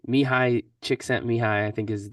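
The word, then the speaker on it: Csikszentmihalyi: I always put like don't know how to pronounce his name mihai chick sent me high I think is like how you say it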